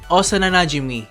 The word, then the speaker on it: Osana Najimi: Now connect those two and say it like it's one word, and you get Osana Najimi, which literally translates to childhood friend.